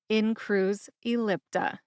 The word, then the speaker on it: Incruse Ellipta: both of those when I say them again in Cru ellipta what's my source on the brand name pronunciation it is the prescribing information for in